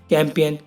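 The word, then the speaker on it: campaign: नेट, नेट माने कुटकी, कैंपेन, कैंपेन माने अभियान। सो गाइस, अगला है हमारा एच कब साइलेंट रहता है।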